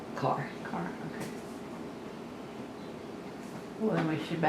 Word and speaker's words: Kerr: Joe Carr, and it's spelled K-E-R-R, but it's Carr. Not Kerr? Yes. Okay. Now, if you saw it in Oklahoma, you would say Kerr, but it was pronounced Carr.